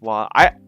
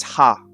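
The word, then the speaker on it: は: Yeah, it's only pronounced wa as a particle. I hope this doesn't confuse a lot of people. Just if you're still confused and you're not sure how to take this, just think of this. Think of it this way. Anything that's not within a sentence, that's not a subject particle, is ha. Anything that is a subject particle is a wa, and there's only one.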